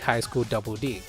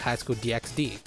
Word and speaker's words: High School DxD: nature of the anime it makes sense to call it High School Double D but many just call it High School DxD I personally go with high school DD as it has just less syllables and another thing I